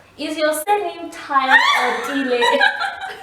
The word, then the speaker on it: Tile: they just assume it's Tao. So my husband's surname, it's Dile. We are closer. Okay. But because everyone just pronounced it as Tao, even at church and work, everyone just says Mrs. Tao.